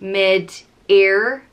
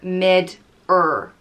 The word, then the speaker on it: Midir: is spelt m-i-d-i-r and it can either be pronounced mid-air midir or mid-er mitter and he was known as the fairy